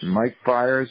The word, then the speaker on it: Mike Fiers: Now, am I pronouncing his name? Flyers? Mike Flyers, right.